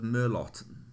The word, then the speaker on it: Merlot: I ordered a bottle of Merlot. That's the correct pronunciation there.